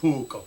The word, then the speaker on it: puukko: It is pronounced puukko, not puukko.